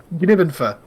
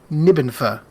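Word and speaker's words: G'nibbenfa: Gnibbenfa. Gnibbenfa. That's literally the clue. Unless it's just Nibbenfa. Gnibbenfa. But it's like the G apostrophe means you're supposed to say the G. So it's Gnibbenfa.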